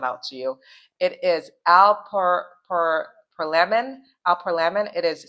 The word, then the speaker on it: alprazolam: It is alprazolam. Alprazolam. It is spelled ALPRAZOLAM.